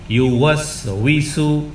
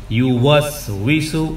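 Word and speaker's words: يُوَسْوِسُ: এরপরে ইউওয়াসউইসু, ইউওয়াসউইসু, ওকে দুই ঠোঁট গোল করে তারপরে উচ্চারণ করতে হবে। ওয়াও, দুই ঠোঁটকে একেবারেই গোল করে ফেলুন, দুই ঠোঁট আগেই গোল করুন, তারপরে উচ্চারণ করার চেষ্টা করুন। ওয়াও, দুই ঠোঁট আগে গোল হবে, তারপরে উচ্চারিত হবে। আগে উচ্চারিত নয়, বরং আগে দুই ঠোঁটকে গোল করুন, করে ফেললাম, এরপরে উচ্চারণ করুন ওয়াও, ওয়াও, তখনই হবে ওয়াও।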